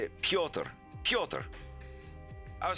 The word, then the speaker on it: Piotr: Do you still do the t, or is it more like a d? Like T. Piotr.